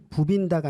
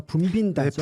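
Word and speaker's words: 붐빈다: 부빈다가 아니라 분빈다죠. 네, 분빈다죠.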